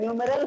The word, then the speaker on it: numeral: इसको बोलते हैं न्यूमेरल फॉर्मेट।